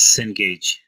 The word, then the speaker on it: Cengage: Okay, so you have two special cases, one for Starbucks and one for how do you pronounce this? Cengage.